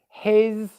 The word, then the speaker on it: his: it's new for you start by just practicing these words here his is has was and make sure that you're able to pronounce a z sound z sound after the vowels okay um does that